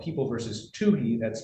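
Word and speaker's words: Tohey: But uh the Michigan Supreme Court has been very clear in a case called People versus TUI that's spelled T O H E Y uh a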